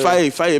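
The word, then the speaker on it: Faé: Faye, mais non, je ne le crois pas, je le prononce comme il faut.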